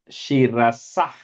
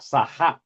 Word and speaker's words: शिरसः: Shirasah, ich sound, not shirasaha. First line. शिरसः. Shirasah, not saha, no a sound there.